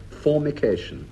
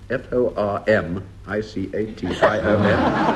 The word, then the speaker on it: formication: prant to Marks Denis Norton what is and pronounce this very carefully what is formication f o r m i c a t i o n formication pH couldn't have a better definition of